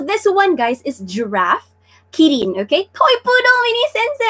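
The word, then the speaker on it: キリン: So in Korean it's called girin, diba? In Japanese it's kirin.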